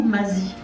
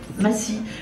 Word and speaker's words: Massy: On prononce Massy ou Mazy? Massy, paru chez Mémoire d'Encrier en 2018.